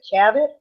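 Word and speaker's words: Chaffetz: at one point and I'm not sure I'm pronouncing his name right but chavit is that correct that's right the chairman chavit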